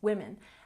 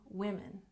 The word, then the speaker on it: women: form and woman becomes women and this one's tricky because even though the last vowel is changing in the word the pronunciation changes the first vowel sound one woman two women and foot becomes feet